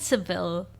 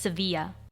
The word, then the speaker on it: Sevilla: so it's yeah it's it's called seville in english in english it's seville and then in spanish it's sevilla yeah so for future